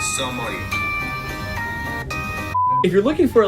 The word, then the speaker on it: sommelier: And you can say sommelier. If you're looking for a lighter game that has the same... Oh my gosh. Sommelier, with the typical French Sommelier. pronunciation, it would be sommelier.